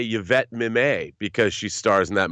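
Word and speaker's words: Mimieux: I mean, I learned how to say Yvette Mimay because she stars in that movie and her last name has an X in it.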